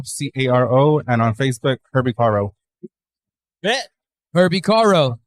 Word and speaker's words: Caro: Yeah, you can find me on Instagram at herbie.caro, C-A-R-O, and on Facebook, Herbie Caro.